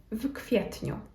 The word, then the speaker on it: w kwietniu: And this one is maybe a little bit tricky to pronounce because we have the preposition w and then the next letters in the next word are K and then again W, which kind of creates this vk sound.